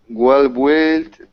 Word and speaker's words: built: Well built. Um goodlooking. Okay. Very good. So remember this word here. Don't pronounce the U. It's just wellbuilt.